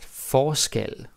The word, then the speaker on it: forskel: Now the pronunciation is also different, right? Forskel, forskellig, different stress.